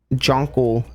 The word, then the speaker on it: Jonkle: Jonkle.